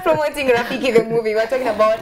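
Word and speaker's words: ROFFEKE: It's spelled as R-O F-E-double-K-E. It's double F-E-K-E. Yeah, right. That is, it's Rafiki, but we pronounce it as Rafiki.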